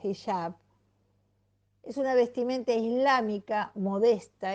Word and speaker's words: hijab: La filosofía detrás de lo que comúnmente se llama hijab o hijab, depende cómo pronuncies la J, nosotros le decimos hijab, Es una vestimenta islámica